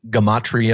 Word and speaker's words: gematria: some people pronounce it gamma tria orga Maitreya I like the hard G because it's geometry in language so essentially what this